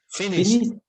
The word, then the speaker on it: finished: We use the ed ending, and the pronunciation is with a letter T. Yes, so the pronunciation is with a T at the end, the sound of a T.